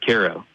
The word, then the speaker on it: Cairo: Yeah, a lot of people are questioning me on that, but just about every documentation of that town that exists pronounces the town as Cairo.